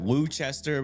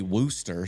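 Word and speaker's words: Worcester: Got Woo Chester, which is apparently Worooster.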